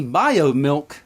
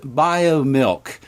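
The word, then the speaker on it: Biomilq: Now the pipeline of alt food companies include BioMilk, and it is spelled B-I-O-M-I-L-Q, and when I referenced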